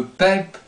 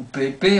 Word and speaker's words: Pepe: joueurs, notamment les défenseurs, je vais parler bien sûr de Pep ou Pepe, hein, comme on veut, on prononce comme ça.